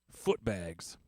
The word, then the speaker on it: Footbags: digital Reverb hi everybody my name is footbags pronounced with the book bags and uh this is